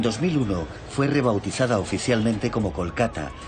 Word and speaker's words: Kolkata: fue rebautizada oficialmente como kolkata reflejando la pronunciación bengalí y no la inglesa este es uno de